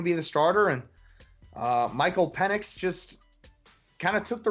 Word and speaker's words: Penix: Indiana's quarterback is named Michael Penix, Penix, pronounced Penix.